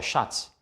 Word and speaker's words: Schatz: TZ wird Z ausgesprochen. Zum Beispiel der Schatz oder der Platz.